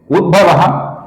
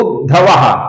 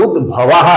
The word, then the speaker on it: उद्भव: पहला नाम है उद्भव यहां पर कुछ लोग उद्धव ऐसा बहुत ही गलत उच्चारण करते हैं। इस नाम का भगवान श्री कृष्ण के साथ जो उद्धव रहते थे उनसे कोई भी संबंध नहीं है। ये नाम उद्धव नहीं है। यह नाम उद्भवाह है। इसका सही उच्चारण कीजिए दोस्तों।